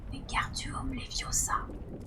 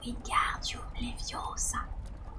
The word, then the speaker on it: Wingardium Leviosa: « Il faut dire Wingardium Leviosa en accentuant bien le gare.